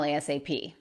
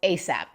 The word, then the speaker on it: ASAP: This one I've heard both as an acronym and as an initialism, which means sometimes you pronounce it letter by letter, and sometimes you pronounce it as a word.